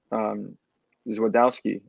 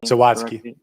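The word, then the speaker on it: Zawadzki: When he makes that run into the middle and is able to put Zwadowski, did I pronounce that name? Zawadski, excuse me, on his back and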